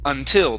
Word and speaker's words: until: some pronunciations here um we had the word until instead of until it's until the stress is at